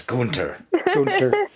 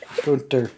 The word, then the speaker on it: Gunther: Oh, I was going to say how you pronounce Gunther. It's Gunter. Gunther.